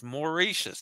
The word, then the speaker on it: Mauritius: Roger says Mauricius. That's the way I said it.